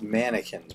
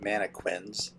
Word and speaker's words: mannequins: Um so I just created a couple of uh mannequins. It's pronounced mannequins, by the way, people, not manoquins.